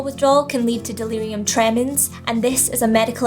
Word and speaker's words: tremens: clonic seizure alcohol withdrawal can lead to delirium trenums delirium trenham oh i said it wrong again again delirium training trainings why can't i say that words tremendous alcohol withdrawal can lead to delirium tremens and this is a medical emergency that can